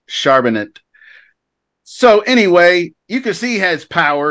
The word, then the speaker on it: Charbonnet: so uh kick off some Zach charbonnet I like to say it like that actually but I think it's sharp in it so anyway you can